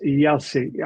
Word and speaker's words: Jaissle: Matthias Jaissle. I can't say it. Jaissle. Is that how you pronounce it?